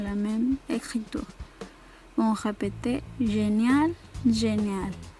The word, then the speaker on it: génial: Bon, le premier est génial masculin, génial féminin. C'est la même prononciation.